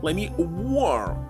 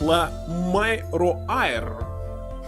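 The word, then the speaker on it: Lamiroir: Yes, let me war. Actually, how are you supposed to guess that it must be pronounced like let me war? Why it's woo? Why it's not la my roair?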